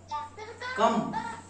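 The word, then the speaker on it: come: সি ও এম ই। কি হবে? কাম কাম আমার এর উচ্চারণটা হয়ে যাবে কাম তাহলে আমার এর উচ্চারণটা হয়ে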